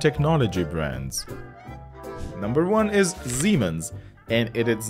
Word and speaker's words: Siemens: word over a syllable we pronounce it like Zed not like s so it is Siemens and it's called Siemens